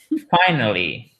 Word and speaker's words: finally: It's like only 3 syllables. So, and the stress is on the first one. Okay, là, je vais y arriver. L'accent tonique est sur la première syllabe.